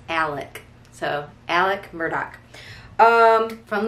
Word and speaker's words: Alec: um again and it's if you looked at it you'd think it was alex but south cacalac it's alec so alec murdoch um